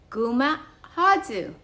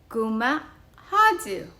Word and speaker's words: guma' håiyu: We call this kind of house in Chamorro Guma Hadzu. Guma Hadzu. Wooden house. Pina and friends, can you say Guma Hadzu? Guma Hadzu.